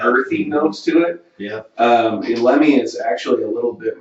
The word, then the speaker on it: Elemi: How do you pronounce that? Elemi.